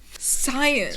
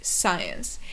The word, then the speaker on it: science: The next word is science. And what's important in this word's pronunciation is that the C is not pronounced.